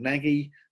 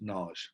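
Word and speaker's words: Nagy: and ours and it looks like the word Naggy but he's actually pronounced Nars I actually should teach a student for the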